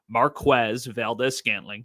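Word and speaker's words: Marquez Valdes-Scantling: that come up are Marquez Valdez scantling that is how you say his name I asked him he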